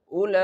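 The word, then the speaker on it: أولئك: So, here in this word, there is a mad, but its size is small, so we can stretch this word only for four counts. How can we stretch? Ulaika. Ulaika.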